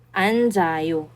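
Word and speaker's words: 앉아요: So pupunta na siya sa second and third syllable kaya ganito ang kalalabasan niya. Anzayo ang basa na diyan ngayon ay anayo. Anjayo.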